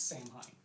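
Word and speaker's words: Saim-Hann: to be pedantic because there is an official pronunciation guy there is in the third edition Craft World codex it does say it's Sam Hine yeah even though it is Sam not Sam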